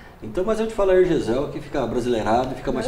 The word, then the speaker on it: Hergesel: seria Hergesel.